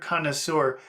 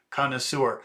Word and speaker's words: connoisseur: That word connoisseur, that comes from French. That first part, cano, that's very similar actually to the word no. If you pronounce the word no with the K, it's cano.